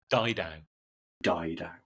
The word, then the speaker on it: Didau: for all the for the audience members, for once and for all, how do you pronounce your last name? Die. Dou. It rhymes with cry and cow.